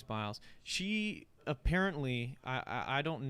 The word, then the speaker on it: Biles: on our usa simone simone biles okay it's biles i wasn't sure how you say it um i think it's bios i think it's biles she apparently i i don't know all of